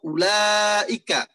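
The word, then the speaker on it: أولئك: Atau ulaika. Lafaz ulaika itu ada wawunya di depan hamzah. Tapi tidak dibaca ulaika.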